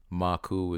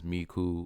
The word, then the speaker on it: Maku: Today, the title Maku is mispronounced as Miku or Miko, referring to the leader of the Yamasi tribe or any tribal leader in the U.N.N.M.